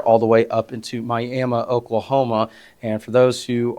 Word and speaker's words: Miami: will know it is Miami. Just a little bit of information for you if you're new to the area. Northeast Oklahoma, it's one of those towns where it's Miami, even though it's spelled Miami.